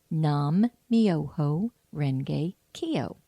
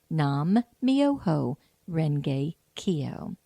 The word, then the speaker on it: nam-myoho-renge-kyo: it's a wonderful chant and here it is nam-myoho-renge-kyo nam-myoho-renge-kyo and once more nam-myoho-renge-kyo so here's how you spell it and I think it's the real spelling